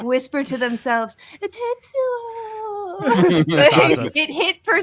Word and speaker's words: Tetsuo: A very underrated example would have to be Tetsuo! That is the correct pronunciation.